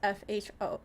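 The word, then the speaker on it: pho: a mod no it's it's actually pronounced F it's not pronounced fo it's pronounced F the actual soup the actual noodle soup is is pronounced F so trust me I have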